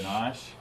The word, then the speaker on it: ganache: How do you pronounce that word? Ganache.